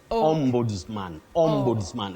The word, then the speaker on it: Ombudsman: is a great try the only thing is that s takes the sound Z OMS mansman and we are talking